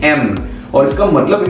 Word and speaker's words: yen: और दोस्तों ये येन जो है ना हम लोग येन प्रोनाउंस करते हैं, लेकिन जापान के जो लोग हैं ना उन लोग इसको प्रोनाउंस करते हैं एन और इसका मतलब है राउंड।